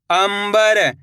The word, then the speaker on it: अंबर: दंग ग ल दंगल अम ब हर अंबर इस शब्द के अंदर भी अपन ने आधा मा का उच्चारण करा है।